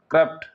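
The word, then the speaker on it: corrupt: पहले कर हो गया, कर र में मतलब कि आधा हलंत टाइप में लगा देंगे कर, और उसके बाद रप्ट। स्पेलिंग याद करना है तो COR, कर। एक आर इसमें ले लीजिए, जैसे डबल आर है तो एक आर इसमें ले लीजिए कर में, और एक RUPT इसमें ले लीजिए, तो एक कर हो गया, अगला रप्ट हो गया। दोनों को मिला दीजिए, क्या हो गया? करप्ट।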